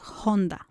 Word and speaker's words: Honda: I'm I'm talking specific specifically about Honda from Japan. The uh that we pronounce the H the the way it is pronounced in the original language.